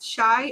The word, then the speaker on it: Shai: So, Dedra says, "Shai is pronounced shy according to Aesthetica." Shai. That That's what she's asking. Is shy pronounced shy? Like I'm shy. Yeah, I think shy is what I've been hearing. Shy or shay? It depends. I mean I think in their live they said shy.